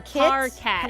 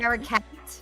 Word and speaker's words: parcat: It is parakeet and cat together. You have that. You just can't do it But right less for some syllables. reason. Yeah. It's because my brain is like, the K comes after the para part. So it must be paracat. Yeah, no extra A.